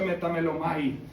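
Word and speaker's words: μεταμέλομαι: En griego arrepentido aquí habla de se en griego se pronuncia metamelomai.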